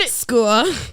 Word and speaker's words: skua: Skua. That was in Happy Feet. Skua. Nope, that's how you say it.